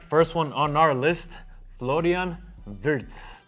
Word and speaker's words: Florian Wirtz: All right, first one on our list, Florian Wirtz, right? That's how you say it? Florian Wirtz.